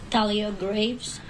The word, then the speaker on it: Thalia Graves: Do you want to pronounce her name? Thalia Graves.